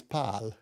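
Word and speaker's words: Pál: like this okay right the way you pronounce Paul Hungarian is pal huh so we used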